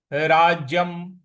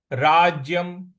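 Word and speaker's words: राज्यम्: अगला पद है राज्यम राज्यम ज पर हमको थोड़ा सा बल लगाना है। राज्यम य पर जो अनुस्वार है उसका उच्चारण हमें म ले आना है।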